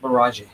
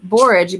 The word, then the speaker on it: borage: we had no rain i think it's pronounced barrage you hear a barrage but i like borage because i read in